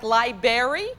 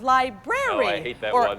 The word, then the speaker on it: library: the mispronunciation of words Oh like like libary instead of library new Clerk instead of